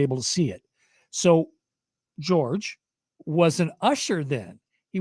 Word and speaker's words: George: Okay, well, George's name is spelled like yours. He doesn't pronounce it Jorge or Jorge. He pronounces it George.